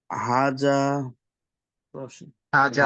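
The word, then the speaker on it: هذه: এটি হাজা হাজা হাজা কি আপনাকে এই উচ্চারণটা শিখিয়ে দিয়েছিলাম।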